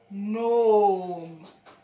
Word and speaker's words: gnome: So before a hen and you have a G, then the G is quiet. So this word, let's sound it. gnome. At least let's call it gnome. And the G is silent.